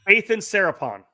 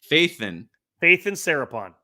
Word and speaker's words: Faithan Sarapon: It's Faithan Sarapon. Faithan Sarapon. No D. I always say the D. He told me it's like George Michael. You got to have faith, right?